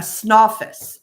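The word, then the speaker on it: Snawfus: And it's spelled s n a wfus is how it's spelled. Snoffus. Snoffus. Like what's the name of that character from a long time ago? Snalopicus. Yeah. Yes. Snalopus. Yeah. But it's called Snoffus.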